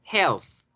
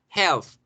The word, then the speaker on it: health: La palabra salud se escribe con TH al final. Health. Health.